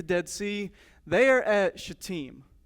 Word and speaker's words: Shittim: They are at Shittim. It's Shittim, not right? So it's Shittim, if you're wondering how to pronounce that.